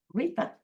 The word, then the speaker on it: Luita: sound, they called her Luita. And they gave a little trill at the beginning. It's actually pronounced Rita.